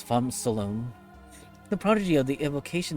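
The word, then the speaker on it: Phamrsolone: I'm pretty sure the R is silent, so it's Fom Solone.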